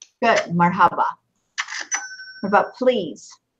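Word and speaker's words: مرحبا: Marahaba? Good. Marhaba.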